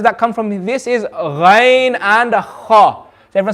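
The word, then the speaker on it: غ: the two letters that come from this is rain and everyone say with me rain okay a lot of people they get confused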